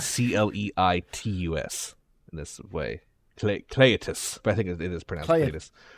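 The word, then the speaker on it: Cleitus: Cletus really just yeah Cletus to Black uh it's spelled c-l-e-i-t-u-s in this way Cletus but I think it is uh he has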